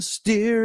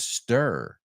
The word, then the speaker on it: stir: first word little darling steer it up steer it sounds like he's saying instead of stir so I would pronounce that second word stir right it rhymes with her right so if you